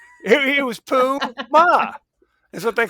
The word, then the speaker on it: Puma: Puma. He was Pooh Ma is what they called.